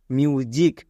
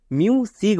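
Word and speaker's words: music: তাই এখানে বর্গীয় যো হবে ওকে তাহলে এর উচ্চারণটা কি দাঁড়াবে এম ইউ মিউ next S আই সি মানে জিক মিউজিক একে আমরা কেউ ভুল করেও মিউ সিগ বলবো না কেন কারণ এস এর দুপাশে দুটি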